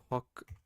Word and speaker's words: Hochdeutsch: How to say Hochdeutsch, or however you say that word.